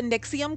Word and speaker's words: NXIVM: producer hold on uh it's the nixium cult so it's spelled nxivm in cap capslock uh like his roman numerals um but that's just